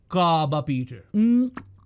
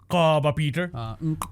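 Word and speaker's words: Nqaba Peter: मैंने मैंने पूछा था सीएस से सीएस शिवाजा my colleague and good areas कि किस तरह प्रोनाउंस करते हैं उसने बोला काबा पीटर काबा पीटर काबा पीटर मजा आता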